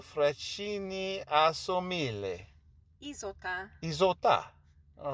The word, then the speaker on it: Isotta: Isotto Fraschini Asso Mille. Isotta.